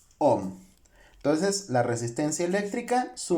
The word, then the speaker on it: ohm: la letra griega omega, la cual se pronuncia como el postulador de esta ley, que es ohm.